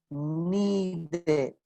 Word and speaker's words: needed: En pasado. Needed. Sí. Ahí esa E sí suena.